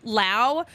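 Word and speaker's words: Lowe: other people other fans how they remember Brandon Lao versus Josh low because they're spelled the same way but they're pronounced differently you they remember Brandon Lao because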